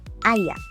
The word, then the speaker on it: I agree: Now, pronunciation hack is I agree. All together. I agree. I yeah. I yeah. I yeah. Sounds like I yeah.